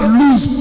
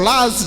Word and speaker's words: Luz: Told you it was called Luz previously, or Laz, depending on how you pronounce it.